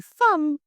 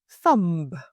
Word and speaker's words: thumb: So you say thumb and not thumb.